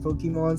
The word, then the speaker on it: Pokimane: She said it's pronounced Pokemon, so I'm trying to get myself to say it say it like that, so like we respect that for her.